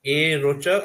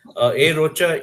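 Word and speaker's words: A Rocha: So Dilip is a senior research officer at A. Rocha. I'm sorry, did I pronounce that right? Yes. Okay. A. Rocha, India, which leads a human elephant conservation program.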